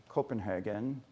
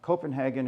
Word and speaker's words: Copenhagen: So we flew to Helsinki, and then I flew to Copenhagen, København, something like that in Danish. I won't tell you how everyone pronounces stuff, but the Danes have to swallow everything.